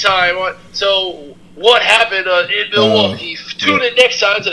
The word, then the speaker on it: Milwaukee: Milwaukee. That's how you're supposed to pronounce it.